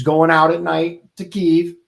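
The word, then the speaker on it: Kyiv: this is is uh Kei that's how you pronounce it right yep ke it's the capital of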